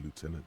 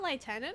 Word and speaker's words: lieutenant: is the lieutenant oh it's not liutenant it's Lieutenant have I been pronouncing it wrong this whole time they said lieutenant I've been saying liutenant I guess it's actually Lieutenant um okay I'll say